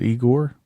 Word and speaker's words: Igor: yes man Master the eigor yeah is it eigor you said it right Egon I hate you